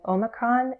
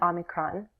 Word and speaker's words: Omicron: I tend to go back and forth between "oh muh krawn" and "aw mi krawn."